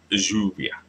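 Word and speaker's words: lluvia: just in case that the v in the word is pronounced as a b not a v so it's U be U be all right yubia all right so yeah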